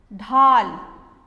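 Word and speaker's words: ढाल: dhal means shield so listen carefully the pronunciation dhal dha dal it has a longer sound dal we have longer sound when we add our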